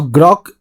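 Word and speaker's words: Groq: there's another company called Gro now grock is spelled at gr oq this Graphics Company or npu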